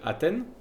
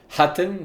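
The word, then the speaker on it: Hatten: Nous sommes les défenseurs du village de donc j'ai l'impression que ça s'appelle Athen. Haten, ça devrait se prononcer.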